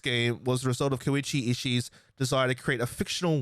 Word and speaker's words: Koichi Ishii: watch them and i'm sorry sir if i butchered your name but i went to an australian public school that was correct koichi ishii oh yeah i'm the best uh wanted to